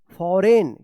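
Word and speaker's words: foreign: तो इस तरह से जो है आप एन से पहले अगर जी आता है तो जी का उच्चारण नहीं होगा।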